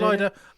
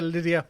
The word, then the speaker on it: Lyda: ligher is lier yeah I'm home again going with lier some people say Lydia we're going with lier